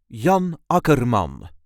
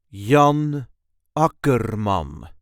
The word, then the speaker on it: Jan Akkerman: This is the way we say Yan Akuram. Yan Akuram. There is a light emphasis on the first syllable of his second name.